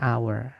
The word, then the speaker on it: hour: Padahal hour itu tulisannya awalnya h teman-teman. Hur gitu ya. tapi bacanya our makanya pakainya an.